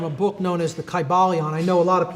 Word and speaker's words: Kybalion: the ancient Greek language in which there was no like short y sounds you know it would have been a long I sound Kai ba Leon and every syllable would